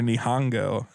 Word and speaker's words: Nihon: they've changed it to Nihon it's always been Nihon Mexico nihan is the Japanese name for Japan